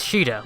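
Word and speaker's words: Sheeda: Like how Sita's name is Shida, which is how it's said in Japanese.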